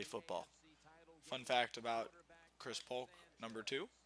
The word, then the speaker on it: Polk: Fun fact about Chris Polk, number two, his last name is one syllable.